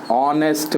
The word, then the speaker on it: honest: with consonant h but h is silent here and we pronounce it as honest man o which is